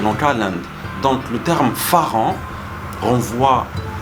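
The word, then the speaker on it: ฝรั่ง: En prononciation thaï, on dit Pharang.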